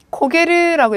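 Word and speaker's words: 焦げる: 2번 먼저 보시면 고게르라고 읽었어요.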